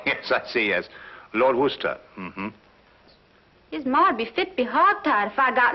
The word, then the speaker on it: Worcester: something else too dark but it's spelled w-o-i-c-e-s-t-e-r we're a sister oh yes I see yes Lord Worcester um tired if I